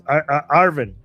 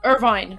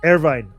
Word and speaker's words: Irvine: Uh, oh my god, the city is Arvin. Arvin Arvin, right? Did I pronounce it right? LA Irvine. Uh, this Irvine.